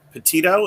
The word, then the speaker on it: Petito: name said out loud is it petito is that how you were saying it that's how it's being pronounced i'm catching yeah and